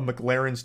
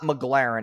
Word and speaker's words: McLaren: spends filling up a McLaren's tank. Okay, so this part pisses me off because he says the name wrong like 8 times in a row. It's not McLaren, it's McLaren. Okay, so that's how we